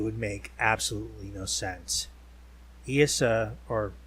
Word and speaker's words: Eissa: I.C.E, or I.C.E, like Isis, that's actually the official pronunciation, is the goddess we call Rolemaster now.